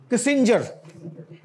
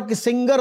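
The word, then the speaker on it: Kissinger: दिया है अच्छा जी यह किसिंजर यह 70 में अखबार हमारे बहुत कंफ्यूज होते थे कि यह जी जो है ना यह हार्ड जी है कि सॉफ्ट जी है तो कई अखबार कि सिंगर लिखते थे आज के दौर में दिस इज रियली इन एक्सक्यूब कि इतना ज्यादा एक्सपोजर है लोगों का और हमारे आप हैरान होंगे वजीर खार केयर टेकर वजीर खार वो इसको एक में सिंगर कह रहे थे इन दिस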